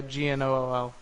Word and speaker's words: gnoll: Yeah, G-N-O-L-L.